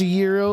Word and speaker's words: gyro: It's pronounced Yurro like the Greek rap.